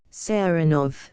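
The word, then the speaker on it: Saranoff: him round this way he pronounces the name with the stress on the second syllable sanov Nicola yes sir he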